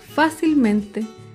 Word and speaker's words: fácilmente: Otro ejemplo es la palabra fácilmente. Fácilmente se acentúa en la sílaba anterior a la antepenúltima sílaba.